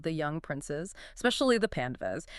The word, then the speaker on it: Pandavas: Yes, a group of 5 royal brothers known as the Pandavas, pronounced P-A-N-D-U-V-U-S.